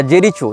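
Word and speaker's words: Jericho: या फलस्तीन हो इसने जेरिको या जेरीचो जो भी इसका उच्चारण भाषा में किया जाता है जे आर आई सी एच ओ जेरीचो या जेरिको जहां तक जेरिको होना चाहिए उच्चारण यह फलस्तीन का प्रांत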